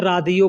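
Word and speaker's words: راديو: Radio को अरबी में रादियो बोलते हैं।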